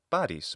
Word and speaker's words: Paris: And her new husband, the Trojan who took her to Troy, of course, was Paris, and that's Paris, both in Latin and ancient Greek pronunciation.